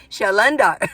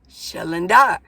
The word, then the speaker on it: Shalandar: Shalandar. I know. I asked him, I go, where's the accent? He goes, on the dar. Shalandar.